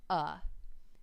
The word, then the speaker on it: a: speaking to you now the word a in most cases should be pronounced uh the only reason it